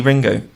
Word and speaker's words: Ringu: I need to see ringu yeah yeah yeah yeah I think it's just pronounced ring well it's written ringu so going to say how it's written I have you haven't